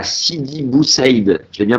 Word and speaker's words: Sidi Bou Saïd: T'es né le 8 juillet 77 à Sidi Bou Saïd. Je l'ai bien prononcé ?